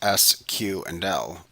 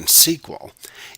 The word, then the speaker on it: SQL: SQL, pronounced as the individual letters S, Q, and L, or often SQL, is the language used to manage and interact with all relational database management systems.